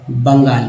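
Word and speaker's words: Bengal: बंगाल नहीं पढ़िएगा क्योंकि दोस्तों ई जो है आ के रूप में उच्चारण किया गया है, लिखा गया है ई लेकिन पढ़ा गया है अ। बंगाल, वेस्ट बंगाल पढ़ेंगे क्योंकि आपके नाम का अंग्रेजी नहीं हो सकता।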